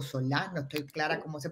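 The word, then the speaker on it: Solà: También queremos darle la bienvenida a Irene Solá, o Solá, no estoy clara cómo se pronuncia, perdón, Irene. Solar. Solá, perfecto.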